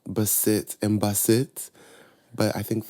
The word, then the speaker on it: Basit: what's funny is that I kind of Americanized the pronunciation of baset too my original given name was Basit it's a Nigerian name and my like Nigerian family my black American family always call me a variation of baset and Basit but